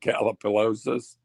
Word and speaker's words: Gallipolis: How do you pronounce that? Gallipolis?